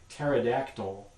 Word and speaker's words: pterodactyl: So words like pterodactyl or psychiatry or things like that, that begin in English with silent P letters, Those are from the original Greek. They're not pronounced in modern English.